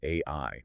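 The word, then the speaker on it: 愛: So, in Japanese, the word for love is pronounced AI.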